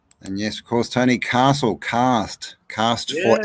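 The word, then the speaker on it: karst: I know this is sandstone, but limestone in geology is called cast, spelt with a K.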